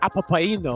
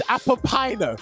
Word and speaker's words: Apapino: Rob, I loved it when you pronounced this guy's name, because you said Apapaino or something like that. You made me laugh. I know what you're talking about. I know what you're talking about. It's Apapino, if you really must know.